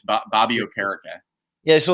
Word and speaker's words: Okereke: Yeah, he's actually changed the pronunciation multiple times himself. It was Okereke, and now it's Okereke according to him. So it's Bobby Okereke.